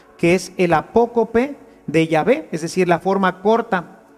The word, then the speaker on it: Yahvé: Y por eso nosotros sabemos que la pronunciación correcta de Yahvé es así, Yahvé, y no Jehová, que es simplemente una literación.